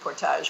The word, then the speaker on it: Portage: band portage well we we vastly prefer the french pronunciation portage but um it's not